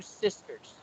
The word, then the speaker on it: sisters: I don't want you to skip S's. Like for example, there are pages here like this. For example, I've got two sisters. You said sister. You failed to pronounce the letter S.